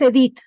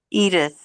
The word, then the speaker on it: Edith: Por ejemplo, mi nombre es Edith, pero, y se escribe Edith, En Estados Unidos, si alguien lee mi nombre, no va a leer Edith. ¿Cómo va a leer? Edith. Y yo he oído que dicen Edith.